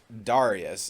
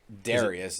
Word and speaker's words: Darius: All right, so first of all, I met Darius. It's not Darius, it's Darius. Darius, yeah.